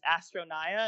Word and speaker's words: Astronaia: Her at is Astronaya, and it's spelled Astronaia.